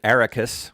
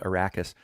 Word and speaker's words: Arrakis: said attradies so i always think of them as paul attradis but atreides and the planet ericus which i used to call ericus but now it's called arrakis but you know reading